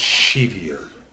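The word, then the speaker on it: Sceviour: bronze metallic marks of Colton skier or Shier that's how they were pronouncing it the other day at the game was Shier metallic marks for alono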